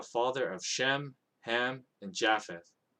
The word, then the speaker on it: Japheth: of shem ham and japheth it might be pronounced yaffeth but i'm just used to pronouncing it as japheth but anyway that's the